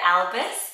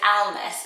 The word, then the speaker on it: Almus: think it's really cute it sounds a bit Harry Potter when they say it like alus but it's almus so again it's the